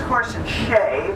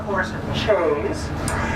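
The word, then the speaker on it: Horse and Chaise: horse and Chase uh the correct pronunciation is horse and Shay but a lot of people call it horse and Chase and it was named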